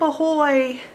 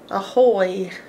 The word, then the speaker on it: Ahoy: are you doing but this is actually a schwa sound which is a lazy way of saying a vowel so Ahoy starts with